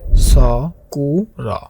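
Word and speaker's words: スクール: স্কুলের কাছাকাছি জাপানিজ উচ্চারণ হবে স কু র। এখানে দেখুন প্রতিটা অংশ সমানভাবে উচ্চারিত হচ্ছে।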